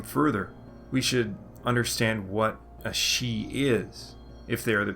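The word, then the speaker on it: sídhe: rested in death thus the she or the she'd in old irish pronunciation means something like the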